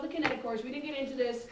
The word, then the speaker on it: kinetochores: on to the centromeres oh the kinetochores kinetic chords yeah i was kinko chores first yeah it was really bad i know isn't that